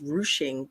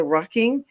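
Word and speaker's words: ruching: one with the rucking I saying it wrong is r r u c h i mg I I guess it's pronounced rushing but I said the what the rucking my mom goes oh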